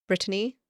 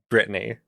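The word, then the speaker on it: Brittany: also touched on uh Britney Britany the geographic location um not Britney right right not Britney the person b r i TT a n y the place um and there is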